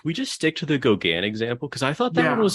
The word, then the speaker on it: Gauguin: So I think, like, if we're gonna say it, like, might as well say like Gauguin. So it's like the French pronunciation. Gauguin.